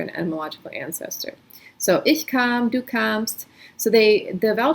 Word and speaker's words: kam: So ich kam is then you, the vowel sounds different from English, a came versus a, but the letter is the same. So you can see how they do share an etymological ancestor. So ich kam, du kamst.